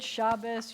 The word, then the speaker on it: Shabbos: a sample of Sephardic Shabbos is Ashkenazic and how would I say that in Sephardic Shabbat perfect who said that okay